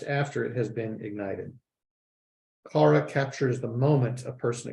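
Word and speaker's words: חרה: Kara, I think that's how it's pronounced.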